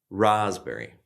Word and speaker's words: raspberry: Then we have this, which is pronounced raspberry.